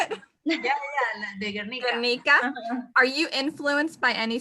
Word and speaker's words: Guernica: I'm not sure if I'm saying this right, Guernica? Are you, yes. How do you say it? Yeah, the Guernica. Guernica.